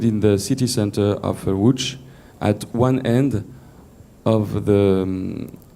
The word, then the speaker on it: Łódź: You can read Lodz, but pronounced Łódź in Polish.